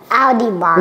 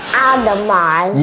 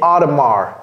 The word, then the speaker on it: Audemars: Audi Mars. No. Okay, Edmond, no. Audemars. Yeah, but don't pronounce the S. Okay, donc ici c'est Audemars.